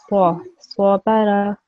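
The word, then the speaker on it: صَبَرَ: Just make sure that the sword is slightly round and thicker, because we have to make sure that this sword it has to be it's pronounced differently from this scene over here, yeah? So it should be swabara.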